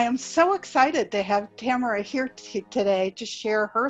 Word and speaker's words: Tamara: My guest today is a very, very special woman named, and I'm probably going to mispronounce it because I never heard your name spoken, Tamara? Yes, Tamara.